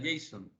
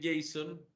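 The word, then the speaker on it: JSON: lo han escuchado mencionar y es el J Jason o Jason como como normalmente se le pronuncia verdad Jason Son son unas siglas en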